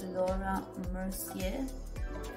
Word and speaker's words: Laura Mercier: it up a little bit use this uh laura mercier that's how you pronounce it the translucent loose section powder i'm